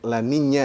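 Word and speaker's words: La Niña: ada masanya laninnya Lani kalau n-nya itu sebenarnya dibacanya laninya ya karena ada n-nya tu ada tiltnya ada truk di atasnya seperti Nah kalau laninya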